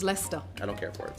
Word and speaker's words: Leicester: It's like Leicester. It's also spelled like Leicester. You know what I mean? I don't care but for it. It's just Leicester.